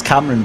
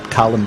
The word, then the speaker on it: Cameron: is, and one of these days I might even get to pronounce his name right, because of course it's Cameron Bridport, not Callum Bridport.